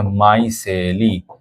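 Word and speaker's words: micelle: এই বান্ডেলটাকে বলে হচ্ছে মাইসলি। এম আই সিই ডবল এলই। এটার বাংলা উচ্চারণ হচ্ছে মাই সেলি।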